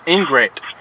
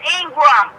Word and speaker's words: Ingram: Miss Henry, Miss Ingrat. Will you no, let me... you ain't saying my name right. My name is Ingram.